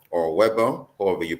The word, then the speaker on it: Weber: this story by Ashley vber or Weber however you pronounce it I think in German they pronounce the W as a v it's in the publication